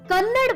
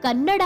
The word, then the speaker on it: ಕನ್ನಡ: ಮೆರೆದಿದ್ದಾರೆ ನಾನು ಮುಂಬೈಗೆ ಹೋದಾಗ ಎಲ್ಲರೂ ಕನ್ನಡ ಮೂವಿ ಅಂತ ಉಚ್ಚಾರ ಮಾಡ್ತಿದ್ರು ಅದು ಕನ್ನಡ ಅಲ್ಲ ಕನ್ನಡ ಅಂತ ಸರಿಯಾಗಿ ಹೇಳಿಕೊಟ್ಟಿದೆ ಕನ್ನಡ ಸಿನಿಮಾ ಅಂತ ಹೇಳೋದು